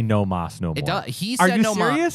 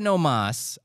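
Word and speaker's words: no más: mas no more no it doesn't actually say no Moss he said no mas and then the author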